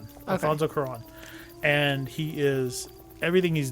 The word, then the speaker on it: Cuarón: I'm not sure how you pronounce his last name. I feel remember. bad. It's like Cuaro with the thing. Alfonso Cuarón. Okay. Alfonso Cuarón.